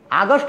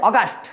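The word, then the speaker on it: Auguste: আগস্ট কিন্তু একটি মাসের নাম, এটা বলবে অগাস্ট কোত। COMTE, অগাস্ট কোত। বানানটি একটু জটিল বিধায় আমি তোমাদেরকে এটা ইংরেজিতে লিখে সহায়তা করলাম। তাহলে অগাস্ট কোত, COMTE, কিন্তু উচ্চারণ হচ্ছে কোত।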